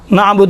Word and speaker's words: نعبد: یہ تلفظ کرتے ہیں، نعبدو نہیں ہے، اعبد نعبد متکلم الغیر کا صیغہ ہے، نعبد ہم آپ کی عبادت کرتے ہیں۔ دیکھیں نعبدو ہے، دو نہیں ہے، دو میں واو اشباہ ہوتا ہے، یہاں واو ہی نہیں ہے۔ حرکات کوتا میں سے